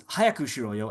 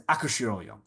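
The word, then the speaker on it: 早くしろよ: properly and therefore pronounces hayaku shiroyo as akushiroyo. Here we go. So we hear that akushiroyo, right? He's not pronouncing the H sound.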